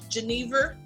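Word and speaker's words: jenever: the lens and Dutch it's pronounced Geneva your name for vests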